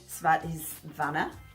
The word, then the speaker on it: Svadhisthana: So how do you say it in Sanskrit? I don't really know. I'm really bad at Sanskrit, but it doesn't really matter because it's called the sacral chakra and I speak English. But it's a cool word if you can pronounce the Sanskrit. Svadhisthana. I say it's Svadhisthana.